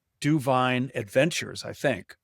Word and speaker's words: DuVine: So I put it together, Levine, Andy Levine, Levine, Duvine. So I thought like it's Duvine.